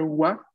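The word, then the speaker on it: は: Vamos a ver, no los quiero confundir diciéndoles ya todo esto ahora, pero esta sílaba que ven aquí, que es ha, se va a pronunciar wa, o en saludos históricos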